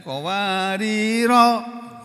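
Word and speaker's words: قواريرا: Wa yutafu alaihim bi aniyatin min fiddatin wa akwabin kanat qawarira. Ya, ini dibacanya qawarira. Rohnya pendek. Walaupun ada alif di sini. Ini bacaan khusus.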